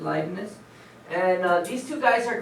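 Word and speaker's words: Leibniz: live - okay so different people pronounce it differently that's how I pronounce it likeness and these two guys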